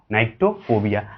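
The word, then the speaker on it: nyctophobia: Spelling देखिएगा, NYCTO, नाइक्टोफोबिया।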